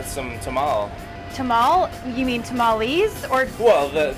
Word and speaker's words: tamal: tamal tamal you mean tamales or well the the single pronunciation is tamal but multiple is tamale so we will be making tamales okay so where do